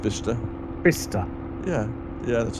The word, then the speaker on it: Bicester: No, it's pronounced Bicester.